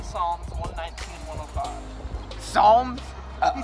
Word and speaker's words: Psalms: Psalms. This P is silent.